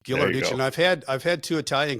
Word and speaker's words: Ghilarducci: and I want to make sure that I pronounce his name right. Ghilarducci, is that right? Ghilarducci. Ghilarducci.